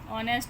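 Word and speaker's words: honest: इसी तरह ऑनेस्ट है, एच साइलेंट है, स्टार्ट में क्या आएगा,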